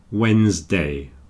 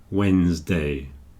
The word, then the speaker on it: Wednesday: the middle there so usually we just don't pronounce the d and we say Wednesday Wednesday choir this is a